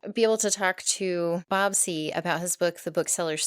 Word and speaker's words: Seay: Uh well, I'm Bob C and thank you for pronouncing my name correctly.